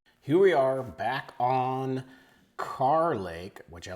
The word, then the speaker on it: Kerr Lake: our Lake breakdown series for car lake or what I actually had mispronounced as Kerr Lake and we are actually